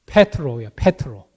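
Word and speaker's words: Πέτρος: 이름이 있죠 베드로 헬로예요 원래 정확한 헬라 발음은 페트로 패트로 그런데 우리는 한국말로 이렇게 베드로를 하죠 헬라어예요 반석이라는 이런 뜻을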